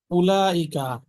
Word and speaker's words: أولئك: উলাইকা, হামজার পরে একটা ওয়াও আছে, লেখার মধ্যে আসবে বাট প্রোনাউন্স হবে না, এখানে টান হবে না।